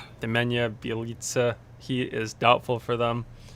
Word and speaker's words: Nemanja Bjelica: Nemensa Bjelica? Nemanja Bjelica.